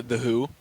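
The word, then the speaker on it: The HU: think you'd like them the band is called the who but who is spelled hu it's not like the who WH o the band it's the who hu the band and it's it's a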